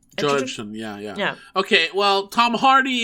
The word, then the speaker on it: Edgerton: Edgerton, yeah.